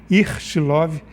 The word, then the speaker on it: Ichilov: vive que é o hospital ichilov esse a pronúncia ichilov de tela vive então eles fizeram um estudo